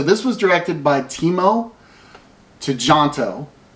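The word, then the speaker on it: Tjahjanto: apologize uh so this was directed by teemo to jonto to jontu to jonto it's to jonto and it starred iko uis and joe taslim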